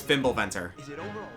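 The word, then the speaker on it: Fimbulvetr: to Bayonetta to that I now know that the pronunciation is fimble Venter oh okay supposedly hmm but that sounds right like fimble Venter that that's the only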